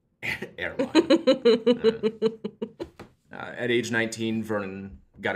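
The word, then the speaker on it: Eraline: the care of his grandmother, Airline, I think is how you say that. I name mine train stations. Yeah. One of those old-ass, old-timey names that I have no idea how to pronounce. It's not like Arlene. Maybe. It's spelled E-R-A-L-I-N-E. I prefer Airline. Airline.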